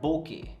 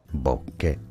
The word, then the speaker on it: bokeh: That's called bokeh. It's originally a Japanese word and mostly it's pronounced as bokeh.